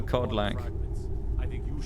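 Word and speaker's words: Kodlak: to cleanse his soul codl with a k at the start k o d l a k I believe it's how you pronounce his name but codl or an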